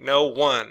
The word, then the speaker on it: no one: 17 no one now these two words are separated and the reason wise to so that you pronounce no and one separately otherwise it would be like noon or something like that okay the lights are